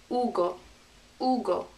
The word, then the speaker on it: Hugo: alicia oh next name that's hugo in spanish remember silent letter ugo ugo it's a funny sounding one isn't it ugo that's